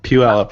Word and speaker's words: Puyallup: Well, I've seen the sort of the is it Puyallup? Is that how you say it? It's like do the Puyallup. Puyallup, yeah.